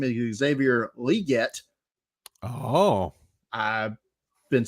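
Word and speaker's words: Xavier Legette: draft what I found out today the correct pronunciation of his name is Xavier liette oh I've been saying it wrong for five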